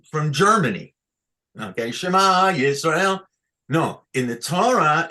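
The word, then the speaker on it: שְׁמַע: Look, the ta'am is underneath the tachat hamem, Ken, and that's shema. This tells us the accent is here under the mem.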